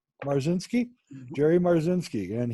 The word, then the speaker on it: Marzinsky: my guest is Jerry Burzynski the how you pronounce it Jerry yeah marcin ski mars in ski Jerry Mars in ski and he is the